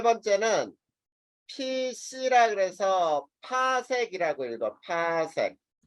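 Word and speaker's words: 파섹: 그 다음에 세 번째는 PC라 그래서 파색이라고 읽어. 파색.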